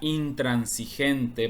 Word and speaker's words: intransigente: a pronunciarla intran consente aquí solamente llega hasta la n la s a pesar de que pareciera que es igual que esta trans aquí se separa la s de la n pronúncialo intransigente Por qué